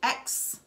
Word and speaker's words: Aix: X we are drinking X rosy this in French is pronounced X like the X DoubleX chromosome like the ex-boyfriend oh yeah ex-boyfriend that